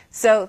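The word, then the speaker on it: 四: has a saying good things come in pairs so you want an even number that's easy to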